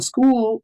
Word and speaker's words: Skool: On school, for those of you who might not know what school is, it's spelled SKOOL.